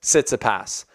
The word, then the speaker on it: Tsitsipas: going to try and say it right, Stefanos Tsitsipas.